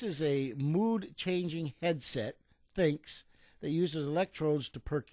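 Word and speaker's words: Thync: your head so it's a headset branded the thinks that's th h y n c pronounced think and it it's supposed to give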